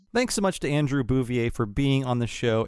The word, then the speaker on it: Bouvier: Miss Bouvier. Most of my family pronounces it that way, actually. They've Americanized it. I've moved on to doing it the more correct French way, because I've had jobs